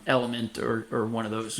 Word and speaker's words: LMNT: sodium um potassium through an electrolyte replacement like element or or one of those yeah one of